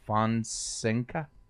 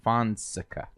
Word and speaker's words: Fonseca: for sinka what's up how do you say her name fun sinka no Fonseca Fonseca finalized I don't see where